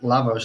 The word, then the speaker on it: Lavos: I'd say it Lavos, I suppose.